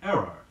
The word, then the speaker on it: err: a little word which is frequently confused in pronunciation with error notice that the pronunciation of it is rare and a practice sentence